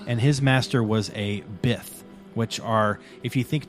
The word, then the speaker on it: Bith: Just call him the Bith Master. Because it rhymes with Sith.